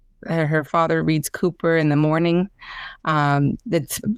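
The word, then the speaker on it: Cowper: I think it's Winnipe Yeah, she loved I know it's pronounced Cooper.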